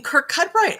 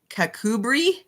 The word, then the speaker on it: Kirkcudbright: Is it really in Kirkcudbright? I didn't. That's really, really funny. Okay, I'm setting the timer for another 20 minutes. And Carolyn, you're right. I'm saying it phonetically, and that's not Kakubri.